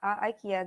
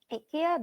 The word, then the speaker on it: IKEA: one yahoo samsung and ikea or ikea again ikea this is uh more english variant and ikea this is more swedish original variant of pronunciation so let's start with